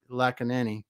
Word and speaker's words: Lakkineni: your last name for me because I'm getting lucky Nanny yes I said it right the first time